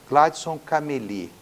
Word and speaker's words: Gladson Cameli: em Rio Branco com o governador do Acre Gladson cameli acertei a pronúncia Governador obrigado por nos receber Eu que